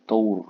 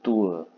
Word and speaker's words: tour: Ini paling sering kita dengar menjadi tower ya. Tower gitu. R-nya udah bagus seperti Inggris. Seperti orang barat, orang bule. Tower salah. Ini membacanya ikuti dulu se-uwe, rasakan u dengan e ya, e-nya lemah. Uwe. Oke, baru tambah r dikit uwer. Oke, uwer. Oke, uwer. Oke, baru tour.